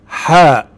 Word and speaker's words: حاء: حاء.